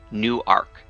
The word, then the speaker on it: Newark: called Newark Newark no new arc and it's it's pronounced that way spelled the same way but it's not pronounced the same way you guys see the